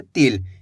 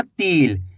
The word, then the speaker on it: तिल: इसी तरीके से पढ़ना आपको तिल, यानी कि तेजी के साथ उच्चारण करना है तिल, ऐसे नहीं पढ़ना तिल। अगर तिल पढ़ोगे तो बड़ी ई की मात्रा का उच्चारण हो जाएगा, तो ये गलती नहीं करनी।